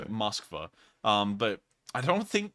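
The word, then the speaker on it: Москва: you see it in russian here it's actually pronounced moskva um but i don't think they will um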